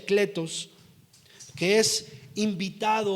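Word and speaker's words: κλητός: esa palabra llamado es una palabra griega que que pronuncia cletos que es invitado o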